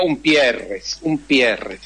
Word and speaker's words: Umpierrez: Mi apellido es un apellido bastante complicado, pero en español sería Umpierres. ¿Y en francés cómo se pronuncia? Eso me quedó la duda. Ampierre. Claro. La UM suena como una suerte de A corta. Ampierre.